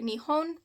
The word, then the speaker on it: Nihon: Um the other name for Japan is also Nepon or Nihon. Um, apparently both pronunciations, if I'm doing it correctly, are correct. Um, and it means the same thing.